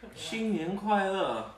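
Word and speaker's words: 新年快乐: Xin nian kuai le, right? Slow and good. Right? You got three languages. Just making sure. Checkers over here. Xin nian kuai le.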